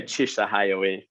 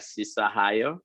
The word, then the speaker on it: Chishahayo: You can say Chishahayo. Okay. We say Abeche. Okay. We Chishahayo. I know some people they pronounce like Sisahayo, but it's okay.